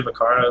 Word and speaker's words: Vaccaro: Is that how you pronounce Vaccaro. it? We say Vaccaro? Vaccaro. Most people say Vaccaro though, so it's okay. Okay, it's Vaccaro.